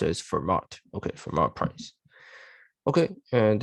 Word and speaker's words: Fermat: Should be pronounced as Fermat.